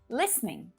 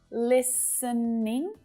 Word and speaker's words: listening: Like this one, listening. So it's perfectly okay to use 3 syllables, listening. But to make things quick and simple, native speakers will often reduce it down to just 2 syllables.